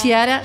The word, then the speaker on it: Chiara: Como es italiano, se pronuncia Chiara, pero Chiara.